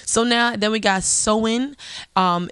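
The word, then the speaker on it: Samhain: now then we got so in and know it sounds like that but it's it's spelt s a.m. h AI N and this is when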